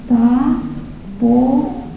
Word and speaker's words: Tafolla: He said, Tafolla. The double L in Spanish is pronounced like a Y. And she said, oh, I get it, like tortilla and mantilla.